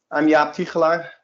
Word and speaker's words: Jaap Tigelaar: I'm Jaap Tigelaar. That's how you pronounce it well.